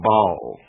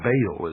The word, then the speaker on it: Baal: of the ancient worship of Bal or Baal as some pronounce it ba was the son